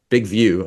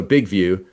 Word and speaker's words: Big Vue: Big View, I guess, but it's spelled VU. So, Big View.